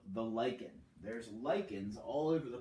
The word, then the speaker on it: lichen: is a major producer of their it's called lichen it looks like lynching but it is pronounced lichen animals of the tundra you've got different types